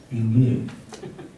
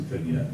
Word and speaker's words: vignette: When you leave white space in a painting like this, the French word is vignette. Vignette. I pronounce it vignette, like most Americans do.